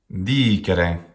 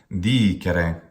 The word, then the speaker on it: dicere: Dicere. Pardon the mistake there. This one is long. Dicere. Dicere. How could we pronounce this incorrectly?